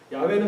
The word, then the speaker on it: 야훼: 야훼는 그냥 학자들이 아마 이게 가장 비슷한 발음이었을 거야라고 그냥 추정한 것뿐이에요.